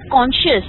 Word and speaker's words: conscious: You use the word conscious, okay? Okay? So it, okay. yes. Yes. No N, okay? Conscious. Yes.